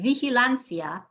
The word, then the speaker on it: vigilancia: left to right here in vigilancia the i and the a form just one sound because it i is a weak vowel and there is no written accent mark so we're going to emphasize the second to last syllable in a word that